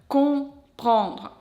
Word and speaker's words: comprendre: So, comprendre. The first nasal sound is nasal O. You will pronounce it when you see O-N, O-M.